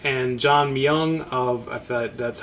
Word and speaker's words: Myung: of ty tabor from King's X and john myung oh that's how you pronounce his last name Dream Theater and some